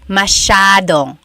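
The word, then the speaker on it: masyadong: Elijah said, "How do you pronounce mashadong?" Mashadong means a lot. So the s y a is a sha sound.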